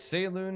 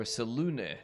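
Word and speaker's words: Selûne: So it's Saloon here, Saloon, or Salune, depending who you ask.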